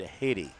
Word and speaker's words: Heidi: up for Haiti Hurtado spelled like Heidi but they pronounce it Haiti unlike Todd's who's spelled